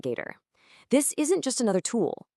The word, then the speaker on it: GAITR: And yeah, you pronounce that, Gator.